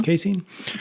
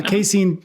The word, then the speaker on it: casein: I'd always heard casein is how do you pronounce it Casey Jason casein casein yeah casein protein is your quote unquote sleepy